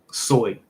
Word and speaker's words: soy: Soy.